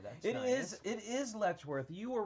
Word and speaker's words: Letchworth: an angle there that it is it is letchworth you were right and i've been saying it